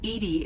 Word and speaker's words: EDI: a specific inquiry why are you named Edie Edie is the phonetic pronunciation of EB I that is an acronym for intense defense intelligence how are you getting along with Joker mr.